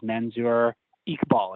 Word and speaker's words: Manzur Iqbal: legendary synthwave producer Futurecop, and his name is Manzur Iqbal. Is that pronouncing that right?